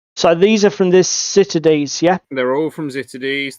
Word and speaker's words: Ziterdes: Now, we've had coaching from a German on how to pronounce this. I think it's Ziterdes, or similar.